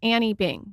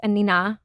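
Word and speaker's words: Anine Bing: I thought it was Annie Bing. So everybody does. Oh, okay. Yes. Okay. I believe she's Swedish. Okay. I only recently learned that it's Anina. Okay.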